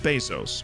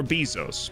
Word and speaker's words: Bezos: Because if you don't, that's saving Jeff Bezos, or Bezos, but if you say it like that, you are a psychopath.